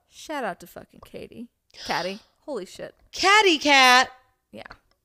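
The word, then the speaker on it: Caty: Catty Manning. Yes, you will be one day. When you guys meet, we call her Catty. Her name's Katie, but it's really Catty. Because it's spelled C-A-T-Y, so it's catty.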